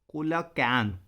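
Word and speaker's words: coelacanth: इन 1938 a fish caught in south Africa happened to बी अ कोलाकैंथ, pronunciation कोलकैंथ भी बोल सकते हैं इसे, which was thought to be extinct.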